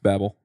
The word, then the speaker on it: Babel: it in angular and I'm gonna get the pronunciation wrong babble or Babel however you want I've heard it both ways I've met two of the maintainer zits babble okay so that well that's